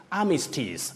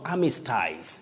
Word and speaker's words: armistice: right yeah mega mega armistice not amy styles yes mega yes yes armistice apprentice justice notice novice hospice we have ice in those words betty but you pronounce those parts as is not eyes honesties apprentice yes justice